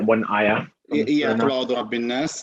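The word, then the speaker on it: رب الناس: Well, it should actually be Qul a'udhu bi rabbin nas. Rabbin nas. So we add the 2 seconds here, and then we call this harf ghunnah mushaddad.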